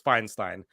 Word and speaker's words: Feinstein: uh seeing Rachel yesterday I think it's Feinstein Drew it's Feinstein I heard her pronounce it it's Feinstein I would think she knows how to pronounce her own last name ezzy but appreciated nonetheless